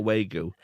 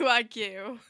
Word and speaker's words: Wagyu: Is it not a Wu? No, it's spelled Wu. It's definitely Wagyu. Wagyu beef and Wagyu burgers.